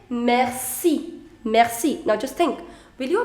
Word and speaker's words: merci: going to apply why because see if it is followed by the vowel i the pronunciation is already sir so you say merci there is no point